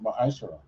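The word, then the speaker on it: מַעֲשֵׂר: Means tenth in Hebrew and is pronounced ma'ashara.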